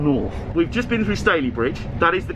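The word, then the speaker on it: Stalybridge: It's not Starley Bridge or anything, is it? No. It's definitely Staley Bridge.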